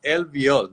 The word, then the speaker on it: Alveole: So the correct pronunciation of your band is Alveole, right? Yes, it's alveole. It's in English. In Germany, the people sometimes say Alveole. That's the German pronunciation.